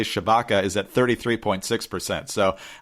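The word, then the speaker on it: Tshibaka: republican in the race i believe her name is pronounced kelly chabaka is at 33.6 percent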